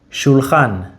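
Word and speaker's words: שולחן: Let's use a very simple word, shulchan. Shulchan. Say it normally, shulchan. Now say it like you're calling someone from far away. Shulchan. The part that stretches naturally, that's the stress syllable.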